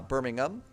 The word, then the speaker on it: Birmingham: So over here it's called uh Birmingham uh not Ham.